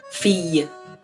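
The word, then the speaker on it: fille: a y in english where we say we pronounce that ye so fee versus field or something like that like pronouncing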